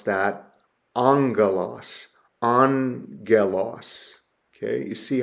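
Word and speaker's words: ἄγγελος: So we would pronounce that angalos. Analos. Okay, you see how I broken down the syllables and transliterated the sound there. Angalos. That's that first gamma is pronounced with an n an angalos.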